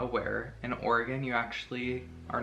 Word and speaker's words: Oregon: You're saying it wrong. It's Oregon, not Oregon.